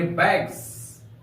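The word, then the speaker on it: bags: जी का लेते हैं जैसे बी ए जी एस यहां पर जी के बाद एस का प्रयोग किया गया है इस एस का उच्चारण ज के समान होगा हम लोग पढ़ेंगे बैग्स बैग्स बैग्स का अर्थ होता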